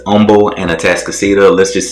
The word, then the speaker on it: Humble: see where humble and that's right i'm saying it right humble i don't know what that's all about when i came here my first week i was saying humble texas and people were looking at